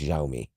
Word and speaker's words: Xiaomi: you pronounce that XI it's pronounced xiaomi uh okay I'm trying